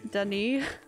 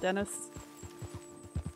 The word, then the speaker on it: Saint Denis: It's pronounced Denny.